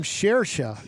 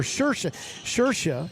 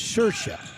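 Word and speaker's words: Saoirse: actress with this name, Shersha is the way you pronounce it, or Shersha, even though it's spelled Saioirse. But in the Irish, it's Shersha.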